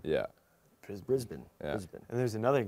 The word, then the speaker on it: Brisbane: It's not Brisbane. Yeah. Brisbane.